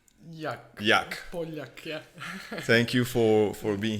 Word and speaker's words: Poljak: So with us, I don't know how to pronounce it well, it's Poljak. Poljak, yeah.